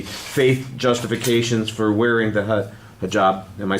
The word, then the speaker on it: hijab: go with the faith justifications for wearing the hijab. Am I saying it right? Yeah. The hijab.